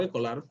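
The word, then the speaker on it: Scholar: En el Google Académico, escrito como Google Echolar o Ecolar, que sería la pronunciación, en el Google Académico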